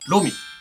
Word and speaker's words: LOVvmE: 名ロミていう LOV vme と書いて多分ラブミー的な意味なんだと思うんですけどバンダ名の説明がないのでうんどっからの由来かは分かんないですけどそれでロミって読む名前になりまし